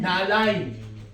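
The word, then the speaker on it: נעליים: Na'alaim. You say im or yim? Im. Na'alaim. It's a long E sound.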